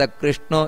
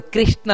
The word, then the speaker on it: ಕೃಷ್ಣ: ಅಗ್ರಾಹ್ಯ ಶಾಶ್ವತ ಕೃಷ್ಣ, ನೋಡಿ ಕೃಷ್ಣ ಅಂತ ಹೇಳ್ತಾರೆ ಕೆಲವರು, ಕೃಷ್ಣ ಅಲ್ಲ, ಕೃ ಕಾಕಾ ಕೀಕಿ ಕೃ ಅಂತ ಬರಬೇಕಲ್ಲಿ, ಹೊರತು ಕ್ರೀ ಅಲ್ಲ, ಕೆಲವರು ಕೃಷ್ಣ ಅಂತ ಹೇಳ್ತಾರೆ.